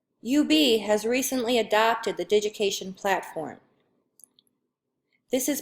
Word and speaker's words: Digication: UB has recently adopted the Digication platform. This is pronounced as Digication, similar to the word education, but instead you start out with digit, as in the word digital.